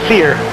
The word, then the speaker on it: Sear: Sear, like the store Sears, minus the S, just Sear.